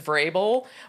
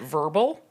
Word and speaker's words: Vrabel: In fact, my last name is Vrabel, but people throughout my life have mispronounced it verbal, which I don't think is an accident.